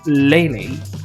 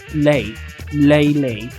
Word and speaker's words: Leyley: how does one pronounce lelay answer lelay lay is in lay down no you're lying you're you're bullshitting me it's not LEL lay down so it's lay lay not LEL okay cool March when